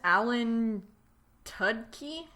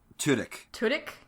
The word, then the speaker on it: Tudyk: How do you pronounce this actor's name? Alan Tudyk? Tudyk.